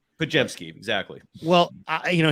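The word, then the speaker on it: Podziemski: so does that make sense yeah he's a pajamski kajemski exactly well I you know he said hey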